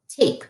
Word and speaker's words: tape: A tape. You just built the word tape because magic E is silent.